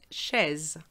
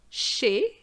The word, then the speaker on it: chez: at somebody's place and be careful not to pronounce the zed otherwise you end up saying this word which is chez so be careful she